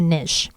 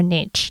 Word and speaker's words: niche: your why is also your niche or niche depending on how you pronounce it something unique about